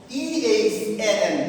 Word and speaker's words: than: T-H-A-N, than. T-H-A-N, then. T-H-E-N, then. T-H-A-N, than. Clear? So, spelling is different.